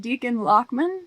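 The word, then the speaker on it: Dichen Lachman: page of actress yeah that's I how her name is pronounced Deacon lochman yeah yeah yeah she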